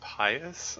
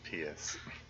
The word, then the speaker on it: pious: I'm sorry, I believe that word is pronounced pious. I've never heard it pronounced pious.